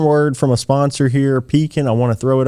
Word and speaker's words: Pekin: Not Peking, not Pekin, as some of our customers often mispronounce it.